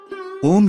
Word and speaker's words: ओम: इसका शुद्ध उच्चारण खुले मुख के साथ आ, ओष्ठों को सिकोड़कर उ तथा ओष्ठों को पीछे लाकर म ध्वनि निकालने से होता है।